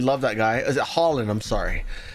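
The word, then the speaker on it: Haaland: Is it Holland? I'm sorry. Double A is pronounced with an O. Holland. Erling Holland.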